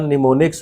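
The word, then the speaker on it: mnemonics: निमोनिक्स, इसमें इसका pronunciation निमोनिक्स होता है, ये एम साइलेंट रहता है।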